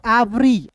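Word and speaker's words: every: दोस्तों ई है ना तो ई को ए पढ़ेंगे वी ई आर वाई क्या पढ़ेंगे दोस्तों एवरी एवरी एवरी पढ़ेंगे एवरी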